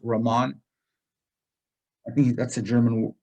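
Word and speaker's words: Riemann: ramon sums it's uh it's not pronounced ryman it's ramon i think that's a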